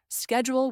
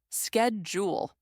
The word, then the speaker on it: schedule: For example, Americans say schedule with a SK sound. Schedule.